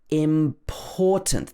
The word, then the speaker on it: important: Important. This should be stressed on the second syllable, the poor.